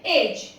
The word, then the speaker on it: edge: When ji comes after D, like in एज, EDGE, इसे हम एज नहीं पढ़ते हैं, हम इसे एज पढ़ते हैं।